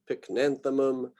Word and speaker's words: Pycnanthemum: very strongly about this, pronouncing the third to last syllable. I've got a group down here at the bottom that are the third to last, otherwise known as the antepenultimate syllable. It's sort of like when you can pronounce that as the emphasized syllable.